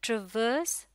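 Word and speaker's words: traverse: माफ़ कीजिएगा, इस लफ्ज़ को ब्रिटिश इंग्लिश के तहत ट्रेवर्स पढ़ा जाता है, यानी कि ये जो सेकंड आर है इसमें ये साइलेंट रखा जाता है, ट्रेवर्स, जिसका मतलब होता है सफ़र करना या गुजरना।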